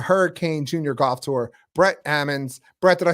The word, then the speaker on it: Ammons: have from the hurricane junior golf tour Brett Ammons Brett did I say your name right Brett